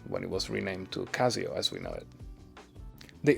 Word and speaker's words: Casio: But did you know that even in Japan, they don't pronounce it Casio? They still call it Kashio.